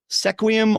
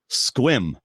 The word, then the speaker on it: Sequim: lot like Requiem yeah SEC wium or Requiem the answer is Sequim apparently people in Washington